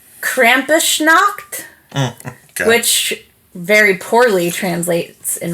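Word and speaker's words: Krampusnacht: 5th which is called I listen to the pronunciation Krampus knocked which very poorly translates in my case to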